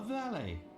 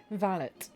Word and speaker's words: valet: Yesterday I was a doctor, and now I become a valet. Valet. I know, like, the original French is pronounced valet, but I'm pretty sure it's pronounced valet in Got a light?